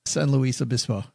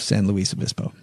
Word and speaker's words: San Luis Obispo: It's clearly Spanish, Doug. Please do not write in about Doug's pronunciation of San Luis Obispo.